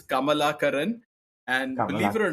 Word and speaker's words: Kamalakaran: So it's pronounced as Kamala Karin and believe it or